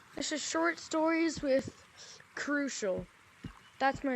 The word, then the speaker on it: Crushel: this is story this is short stories with crucial that's my name if you don't know how to pronounce it now you do um anyway uh